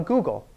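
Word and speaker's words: googol: 10 to the 100 a google not spelled the same way it's a g-o-o-g-o-l google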